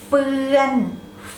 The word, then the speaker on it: เฟือน: be ฝืน high tone ฝืน the next pair เฟือน เฟือน เฟือน เฟือนฟอเฟือ เฟือนอ เฟือนฝอเฝือ เฟือนอ เฟือน so